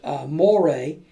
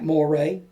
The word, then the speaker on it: moire: If you didn't use fabric like this, you could use moire. That's spelled M-O-I-R-E. It's French, I guess.